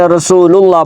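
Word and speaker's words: رسول الله: نہیں پڑھنی، آپ نے رسول اللہ پڑھنا ہے، را کے اوپر پیش پڑھنی ہے، تو آپ عربی لہجے میں جائیں گے، ٹھیک ہے.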